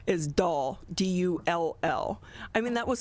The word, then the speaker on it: Dull: the way it's spelt and the way it's pronounced you'd never guess it well i will say my legal last name is doll d-u-l-l i mean that was so horrible growing